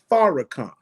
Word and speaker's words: Farrakhan: of the negro so his name is farrakhan like far out front far ahead far beyond yes sir pharah